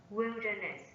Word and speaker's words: wilderness: the second syllable seven wilderness wilderness wilderness this a noun is set on the first syllable eight toxic toxic toxic